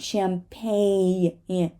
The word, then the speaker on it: champagne: g design design right champagne right so uh here we just replace the G with the u sound champagne champagne rain rain the